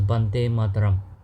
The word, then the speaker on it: Vande Mataram: Vande Mataram is also sometimes pronounced as Bande Mataram.